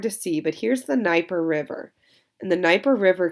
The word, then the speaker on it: Dnieper: It's going to be built on a river called the Dnieper River. The D is silent. A Dnieper River that connects right to the Black Sea, which is going to bring them into contact with Constantinople.